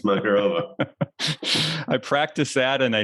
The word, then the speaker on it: Makarova: It's a rhyme with macaroni and Macarena. It's Makarova.